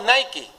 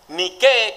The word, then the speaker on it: Nike: la pronuncia en inglés usted ha visto unas zapatillas deportivas que se llaman ni qué nosotros decimos nike pero en griego ni qué quiere decir victoria por eso es que